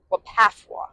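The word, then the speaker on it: WPAFW: How do you pronounce it? Wapafwa.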